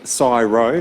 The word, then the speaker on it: CSIRO: work that we do at csro or as we pronounce it uh in the Quantum field syro syyro um and a special